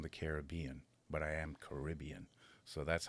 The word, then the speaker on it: Caribbean: And here's a pet peeve of mine when I say Caribbean. It's not Caribbean like Americans say. It's the place is Caribbean. People from the Caribbean or Caribbean. That's the difference.